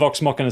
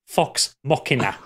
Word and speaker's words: Vox Machina: I was going to talk about Legend of Vox Machina Season 2, but Pip insisted that I talk about it, so.